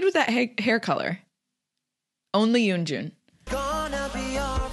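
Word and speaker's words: Yeonjun: reactions someone mentioned that I kept saying yunin or Yun Yun Jin I know it's Yun Jun I know but sometimes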